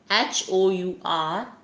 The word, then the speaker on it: hour: Here HOUR, this word is beginning with H, letter H, but the sound is hour, right?